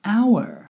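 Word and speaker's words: hour: but what do we use before the word our we say an out or why because the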